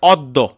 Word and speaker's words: অদ্য: যেমন দেখো আমরা লিখছি হচ্ছে এখানে অদ্য, কিন্তু উচ্চারণ হয় হচ্ছে এটার অদ্য।